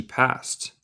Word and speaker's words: passed: El ed suena como T en este caso.